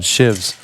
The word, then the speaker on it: sheaves: have to they're called shivs yeah and uh not the prison kind and good to know that's solid solid note there it's spelled sheaves but it's called a shiv and uh it go